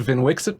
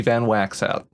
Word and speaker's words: Vnwxt: host in historic brawl are you wondering if I said Vin Wix it properly yes I did or that's the Canon pronunciation According to some advertising that was on Twitch for anyone who cares about that sort of thing sorry to the person who wanted it to be van wax hat um anyway so the